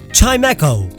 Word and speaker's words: Chimecho: Chimecho, I mean it's a wind chime and those can echo.